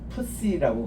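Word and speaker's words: ψι: 그 다음 이렇게 해서 하나 딱 내리면은 푸시라고 그래요.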